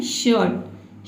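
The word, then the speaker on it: shirt: इसको क्या पढ़ना है, आपको र प्रोनाउंस करना ही नहीं है, आपको क्या पढ़ना है, शर्ट।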